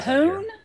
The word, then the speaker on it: hoon: And there a hoon.